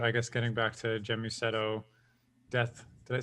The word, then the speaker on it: Gēmusetto: guess getting back to gemusetto death did I say right first it's a it's a hard G it's guset g g